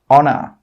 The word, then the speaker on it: honor: Another rule with H is that H is sometimes silent when it comes at the start of a word. Some common examples are hour, honest, honor. In all of these words, we are not pronouncing the H sound. We are not pronouncing the letter H.